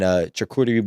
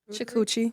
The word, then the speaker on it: charcuterie: And you hit me with I want a 4 Loko and charcuterie board. How do you say it? Charcuterie. Chakuchi.